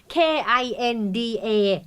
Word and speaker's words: kinda: ถูก กัน แน่ คะ อัน ที่ 2 นะ ครับ kinda kinda เพราะ ว่า ค คำ นี้ ย่อ มา จาก 2 คำ คือ kind นด kind แล้ว ก็ of Of ไม่